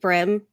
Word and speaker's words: bream: Do they eat brim like up north? Everybody does. I mean, it's bluegill. Like there's a bunch of different names for it. It's just a type of brim, but it's spelled like bream.